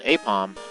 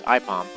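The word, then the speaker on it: Aipom: You might think that's supposed to be said apom but uh AI is pronounced I so it's IPOM.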